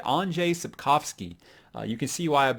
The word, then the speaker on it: Andrzej Sapkowski: Okay, I went to these actual thing where you can go and listen to how they are pronounced by people in Poland. And so if I'm still saying it wrong, I'm just never going to get it right.